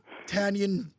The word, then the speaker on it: Tanyon: it's water all right tanion forget about the E the CZ forget about the French stuff say it like it's an American name tanion okay I'm it's not